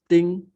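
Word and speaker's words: 丁: This is pronounced as ting, ting.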